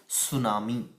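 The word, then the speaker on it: tsunami: quakes हमेशा आते रहते हैं जिसको कहते हैं सुनामी यहां पर देखिए कि suman1 इसको सूचना मिली पढ़ना है कि जो यहां पर साइलेंट रहता है इसको बोलते है सुनाओ जिस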